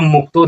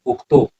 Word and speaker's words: उक्तो: उच्चारण पर आप ध्यान दीजिए, एवं मुक्तो नहीं होगा, एवं उक्तो, उक्तो।